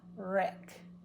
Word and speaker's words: wreck: will work well together sometimes it's silent he wrote it the wrong way he had a wreck so sad he had a wreck in his car he wrote he wrote see it's an R but not a w even though my lips look like they're pulling in I'm only setting up for the r he wrote it the wrong way so the W is silent I didn't go woo